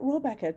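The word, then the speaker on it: Rohrabacher: Rohrbacher. Yeah. Right, Rohrbacher. Sent Rohrbacher to the embassy to say, tell who gave the DNC leaks and I'll let you go, mate.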